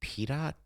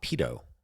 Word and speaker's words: pitot: Sorry, did you say pitot? P-I-T-O-T. Pitot. Pedo. No. Pedo tubes. Pitot. Like tater tot. Oh, I know what you're saying, but you're saying it wrong. It's pronounced pedo.